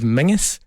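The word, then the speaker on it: Menzies: For some inexplicable reason, we pronounce the word Menses as Mingus.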